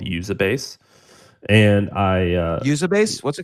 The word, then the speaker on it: Uzabase: I studied a Japanese company that I love called Usabase. And Usabase? What's it called? Yeah, it's a publicly traded company called Usabase. It's spelled Uzabase.